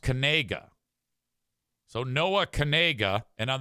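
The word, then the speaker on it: Knigga: His name is Noah Kanega. The problem is the last name is spelled K N I G G A.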